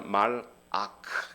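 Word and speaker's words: מלאך: 말락이란 단어는 정확하게 우리 발음으로 비슷해 보이는데 사실은 정확하게 발음하자 말 아크 이렇게 발음을 해야 됩니다. 말하고 아크 이렇게 좀 떼어서 발음을 해야 돼요.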